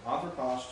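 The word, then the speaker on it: ἄνθρωπος: Note the change from anthropos to anthropo. Now, see, that's a good example here on the pronunciation. Notice that anthropos, how many syllables in? 3. So it's on the antepenult.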